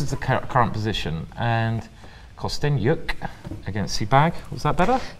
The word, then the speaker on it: Kosteniuk: Okay, so this is the current position, and Kosteniuk against Sibag. Was that better? That was excellent, Simon. Ah, brilliant. I've pronounced it good this time. Kosteniuk. Can I really pronounce the yuk?